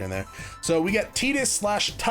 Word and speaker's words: Tidus: I grew up saying Tidus, mostly because I kind of made the connection between tide and his name. Like there's a lot of water, he swims all the time, he has affinity for it. Tides, Tidus. But Kingdom Hearts comes along and is like, it's Tidus.